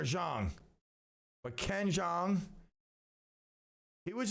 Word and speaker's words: Jeong: It's either Jong or Zhang.